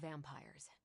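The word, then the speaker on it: vampyres: The new breed I'm tracking are uh they're vampires. I see. No, I do not. You already said they were vampires. Vampires with a Y, pronounced exactly the same as vampires.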